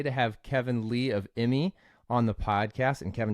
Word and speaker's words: Immi: am pumped today to have Kevin Lee of Emmy on the podcast and Kevin did I pronounce that right that's correct awesome there we